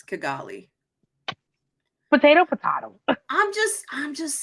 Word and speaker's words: Kigali: It's Kigali. Potato, potato. I'm just saying. Listen, there's few words I know how to pronounce.